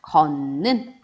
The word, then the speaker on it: 걷는: 디귿과 니은이 만났어요. 근데 걷는 이렇게 따로 발음해주기 너무 힘드니까 디귿과 같은 위치에 있는 비음, 니은으로 변하는 겁니다. 걷는 이렇게 변하는 거고요.